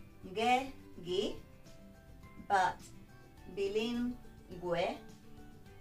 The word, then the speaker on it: bilingüe: And that means that we need to pronounce the U. Ge, gi, but bilingüe, pingüino.